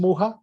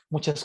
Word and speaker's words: Mucha: Luego tenemos a Alphonse Mucha, uno de mis favoritos. Escribe mucha, pero se pronuncia Mucha.